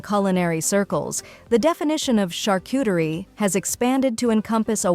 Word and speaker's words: charcuterie: This syllable is pronounced like the shar in shark, with a soft sh sound, followed by a short a, as in art.